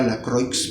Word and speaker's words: Lacroix: Carlos Lacroix que era la Croix, pero que se pronuncia está en francés, y Lacroix, ¿no?